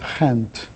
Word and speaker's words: Gent: of Technology this is University of gent they pronounce it hent extremely beautiful seils there